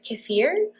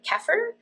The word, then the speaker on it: kefir: Also, random interesting note, there are different ways to pronounce kefir. As I started delving into this kefir world, I've heard kefir, and I have heard kefir, and I have heard kefir.